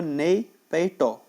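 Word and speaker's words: Naypyidaw: बात करते हैं म्यांमार की, तो म्यांमार की कैपिटल है दोस्तों नई पैटो, नई पैटो, ठीक है, इसका प्रोनाउंसिएशन ये होता है, और यहाँ की करेंसी है क्याट, KYAT, क्याट।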